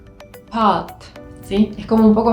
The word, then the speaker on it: pâte: A con un sombrerito, si es una A circunflex, va a ser el sonido A, A, más cerrada en la parte trasera de la boca. Si quiero decir pasta en francés, va a ser así, pâte, pâte, pâte.